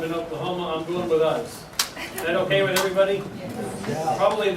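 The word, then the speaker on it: Uz: way over the last week I also check pronunciation some people call it the land of oo some people call it the land of O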